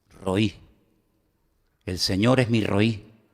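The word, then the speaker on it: רֳאִי: Porque pastor se pronuncia exactamente igual que el nombre que Agar le puso a Dios para definirlo.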